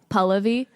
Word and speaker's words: Pallavi: it's gonna polish all of these anomalies pas Pallavi no way okay please okay I learned that